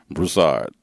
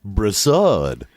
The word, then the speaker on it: Broussard: mama call you Greg how do you say that last name Broussard yes Broussard yep it's a French name with a Creole background did your parents think